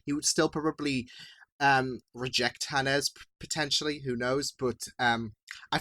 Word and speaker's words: Hannes: Like, especially when he confronted Hannes. I think that's how you pronounce it, not Hans, but yeah.